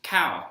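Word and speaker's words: ข้าว: and in Thai the word for rice is cow and it has this tone like this ah cow and the English speaker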